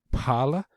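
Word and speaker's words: phala: um because i think you're supposed to uh pronounce the h sound paula uh right yeah yeah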